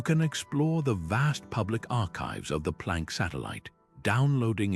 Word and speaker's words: arXiv: place to start is the Rzziv preprint server, pronounced archive, this open access website